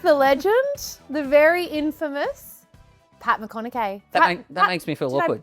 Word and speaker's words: McConnachie: The man, the myth, the legend, the very infamous Pat McConnachie. That makes me feel awkward. Did I pronounce it correctly? The surname? Patty. Pat McConnachie.